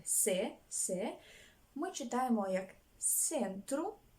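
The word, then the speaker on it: centro: французької рядом інших мов де се якщо вона стоїть перед е і вона читається як с два слова запам'ятаємо з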